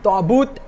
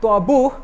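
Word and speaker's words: تابوت: And if you open Surah Baqarah, ayat number 248 today, you will see it says Ta'but ending with a ta and not Ta'buh ending with a ha.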